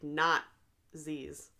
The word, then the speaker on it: Nazis: the movie it's killing Nazis but they pronounce it like not Z's yeah so he did